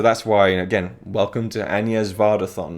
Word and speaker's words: Agnès: Anyway, right, so The Beaches of Agnès, actually, one thing I should say is her name, Agnès Varda, right? That should be how you pronounce it. And I always thought, you know, from the get-go, Agnès Varda, right? That's her name. But I've seen quite a few of her films now, and whenever her name is said in a documentary, someone's calling her, it's Agnès, you know?